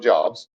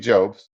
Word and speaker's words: Jobs: like the Steve um jobs Steve jobes sorry I get it because it's j obv i get the guy sometimes I say it like the Bible job Steve Jobs yeah um and then you